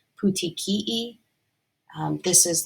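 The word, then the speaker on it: petechiae: word I had to look up how to pronounce it but it's called pouti Kei um this is like little spots on the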